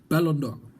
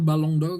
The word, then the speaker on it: Ballon d'Or: Nah, kenapa saya ngomongnya Ballon d'Or? Karena kalau aksen Prancis kan N itu bacanya di ang ya. Jadi Ballon d'Or ya istilahnya tuh. Tapi ya biar enak ngomongnya Ballon d'Or aja ya, Ballon d'Or.